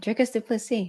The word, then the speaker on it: Dricus Du Plessis: back rain what a fantastic interview with Mr dricus dupi awesome you said it right dricus dupy yeah anyone who wants to know how to pronounce his name talk to me message me